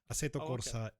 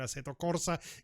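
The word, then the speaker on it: Assetto Corsa: the 16th of January aeto Corsa Evo as we've decided we're going to call it because it's an Italian company and aeto Corsa is an Italian word and therefore it's um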